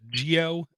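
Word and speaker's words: Jio: I believe it's pronounced Geo, J-I-O, the Geo platform, and Google are going to come out with a next in air quotes budget phone.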